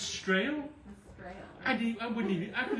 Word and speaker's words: Strahle: Strahle. Am I going to get that? Thank you. Not even close. You do butcher the English language. Strahle, yeah. It's Strahle? Strahle.